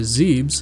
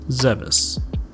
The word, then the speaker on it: Zebes: And yes, I'm pronouncing it Zebes and not Zeus.